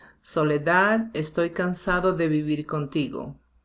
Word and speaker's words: Soledad: a sentence so first soledad is one of a song one of the words ending in d so this final d is not really common in spanish so we tend to omit it or say really soft soledad estoy cansado de